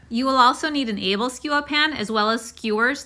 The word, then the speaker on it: Æbleskiver: Also, the pronunciation in Danish is Æbleskiver, Æbleskiver. And in English, I've heard people say Æbleskiver. So I'm going to attempt to say it the Danish way in this video.